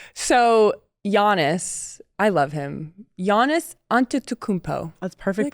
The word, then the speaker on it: Giannis Antetokounmpo: Giannis Antetokounmpo. That's perfect pronunciation.